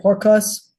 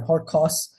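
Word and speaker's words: ὅρκος: um apostrophes over it, it gets an H in front of it. So, H O R, this is an R. P is pronounced like a R. K O U S. Horos, right? Horcos, sorry, Horcos means oath.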